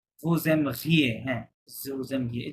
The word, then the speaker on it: vous aimeriez: আচ্ছা, আবার ভু এম ঘিয়ে হবে না, জেড সাইলেন্ট। vous aimeriez, হ্যাঁ, vous aimeriez, এই যে এখানে ওটা মাঝে আসতেছিল বলে এই জন্য এই হয়ে গেছে, আর জেড তো সাইলেন্ট আছে।